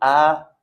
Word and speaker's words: après: La même chose pour le mot après. De la même façon, on ne prononce pas le S.